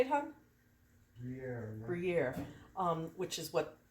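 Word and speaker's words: Gruyère: And the last cheese that I'm going to put on here is Gruyere, which is that how you say it, hon? Gruyere.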